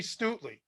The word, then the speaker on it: Stutely: See, now we've learned absolutely Stutely. But yeah, if you get your name mispronounced by Nico, it's a principle. The E softens the T.